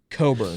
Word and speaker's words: Cockburn: man amongst boys Kofi Coburn but it's his name is spelled cockburn but it's pronounced Coburn see me not knowing